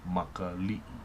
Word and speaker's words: Makali'i: So the 6 little eyes of time is pronounced Makali'i.